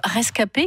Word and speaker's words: ResKP: c'est vrai que comme le nom du collectif rescapés qui s'écrit r es cas ep mais avec bien sûr la phonétique ça représente ces jeunes